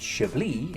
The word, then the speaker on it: Chablis: From its humble beginnings as a Roman outpost, Chablis, pronounced Chablis in French, has become famous for producing the most popular white wine in the world.